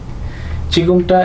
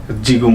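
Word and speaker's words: 지금: এরকম বুকের জ আর চ এর মাঝামাঝি উচ্চারণটা দিবে চিকুম।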